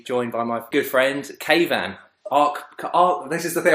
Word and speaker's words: Keyvan: Is Keyvan a common Iranian name? Yeah, it's a common, like, it's spelled in Spain. Like it sounds like Taiwan or something like that.